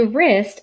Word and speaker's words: wrist: to say what wrist the w is silent so we don't make that sound a wrist is the joint between